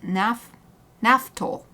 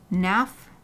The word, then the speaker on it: Naphthol: Naphthol. I've been pronouncing it wrong. Naphthol. Naphthol.